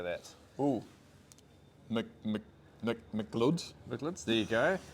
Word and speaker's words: McLeod's: Mc'Leods, there you go.